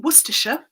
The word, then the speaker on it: Worcestershire: my name is i live in worcestershire in central england and yes that is how you pronounce the source it's still